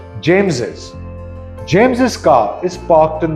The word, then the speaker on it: James's: Now, this is pronounced James's.